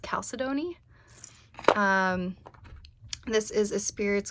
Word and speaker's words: chalcedony: it um this is i always call it chalcedony but i guess it's pronounced calcidoni um this is a